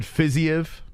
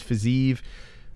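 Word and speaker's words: Fiziev: his name wrong i i always said fizzyev i still want to call him physio but i think it's physique i'll say fizzy if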